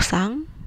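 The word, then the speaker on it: さん: Di sini misalnya Doni sang ya, bukan san tapi sang, dibacanya sang, Doni sang.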